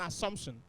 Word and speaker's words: assumption: So the double S is still pronounced S and not Z.